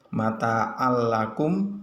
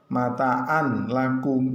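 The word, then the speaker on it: مَتَاعٌ لَّكُمْ: boleh membaca dengan kalimat mataan lakum, ya itu salah yang betul bagaimana? mata'allakum la seperti itu, meskipun di lam tidak ada shiddah kita membacanya harus digandeng ya Tanwin bertemu dengan huruf lam ini membacanya harus jelas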